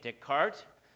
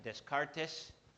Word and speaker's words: Descartes: otro ejemplo fue de descart ustedes creo que dicen Descartes nombre es francés se pronuncia descart y descart comenzó con